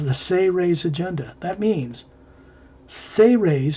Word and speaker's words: Seres: It says the Seres Agenda. That means Seres, spelled S-E-R-E-S, is pronounced Say-Rays, as if it was spelled S-A-Y-R-A-Y-S.